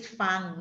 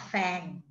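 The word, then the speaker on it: ฟัง: can make it wrong this one is fang not fang so you have to listen to me you have to listen to someone who can speak Thai to pronounce each word for you fang not fang even though it iswritten F-A-N-G and is more likely to be read fan.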